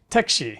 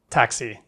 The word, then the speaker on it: 택시: Say 택시 (taeksi) not "taxi."